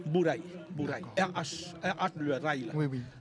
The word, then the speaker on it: Bourail: cet endroit bour à cause du lézard donc prononciation cana bouraï bouraï bouril le rail là oui oui oui a vous